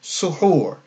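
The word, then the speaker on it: سُحُور: So that represents the dhamma and the elongation with the waw. So that shows us that we would pronounce this suhur. The first U represents a dhamma on the sin, and the second U represents a dhamma on the ha, and then the waw elongates that.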